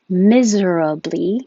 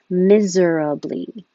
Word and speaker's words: miserably: make a v wherever miserably is the long way and totally correct miserably but you can also make it shorter and still correct miserably or move the r miserably so you have options these two words are